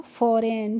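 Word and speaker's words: foreign: ई आई जी एन तो एफ ओ आर ई आई जी एन को हम कैसे पढ़े ए आरई का होगा फॉर ए और यहां पर जो जी है इसको हम साइलेंट रखेंगे तो यह हो गया यहां पर पढ़ेंगे एन का तो यह हो गया ना तो फॉरेन ठीक है फॉरेन मींस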